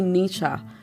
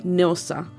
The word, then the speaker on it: Nilsa: She always called me Nisha instead of Nilsa.